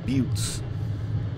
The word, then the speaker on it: butte: mountaintops, if you will, if you want to think of a butte. Kind of looks like it's spelled Butte, just so we're on the same page. It's a butte. Not a butte.